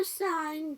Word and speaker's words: sign: sign에서 G가 묵음이에요.